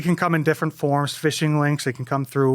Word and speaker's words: phishing: ransomware and fishing and it's not fishing at the lake there it's spelled with a ph so it's a different kind of phishing um so i know